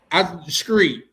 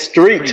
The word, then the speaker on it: street: It's street with a T. Street. Okay. Not a K or a C.